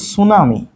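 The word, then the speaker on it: tsunami: এত খারাপ হয়ে গেছে লেখা আল্লাহ জলচ্ছস আচ্ছা বানানটা একটু দেখে নিবা এখন মেইন যেটা সেটা হচ্ছে যেটা বেশি হয় সেটার নাম হচ্ছে সুনামি সুনামি বানান কি ভাইয়া সুনামি কিন্তু টি দিয়ে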